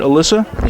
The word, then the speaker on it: Alyssa: Did I say it right? Alyssa? Yes.